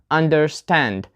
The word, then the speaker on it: understand: The stress is on the second part. We have a compound word which contains two words, under and stand. So this is a verb, and we put the stress on the second part for compound verbs. Understand, not understand.